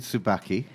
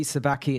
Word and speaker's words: Subacchi: my name is Tsubaki okay which I must admit I was worried about getting the surname wrong because you it's Abacha Tsubaki Tsubaki there we go it's Tsubaki it's Italian I was born in